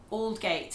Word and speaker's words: Aldgate: The next one is Aldgate, which sometimes people call Aldgate or, well, that's all I've heard. Aldgate. Aldgate. Aldgate is like, it's a bit like the word almost. You don't say almost. No. Aldgate.